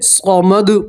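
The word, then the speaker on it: صمد: समद पढ़ेंगे।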